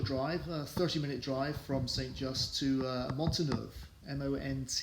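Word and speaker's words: St Just: just I'll pronounce it the English way st. just we followed the ridge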